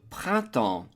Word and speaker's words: printemps: The P-R-I-N is a nasal I-N as in invité, prin, first syllable. Second syllable is temps, which is the word for time, and the E-M-P-S is a nasal sound, sounding like en as in enfant, child.